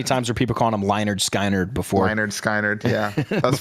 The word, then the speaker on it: Lynyrd Skynyrd: 381, Leonard Skinner, pronounced Leonard Skinner. Yeah, that's funny. How many times were people calling him Lynyrd Skynyrd before?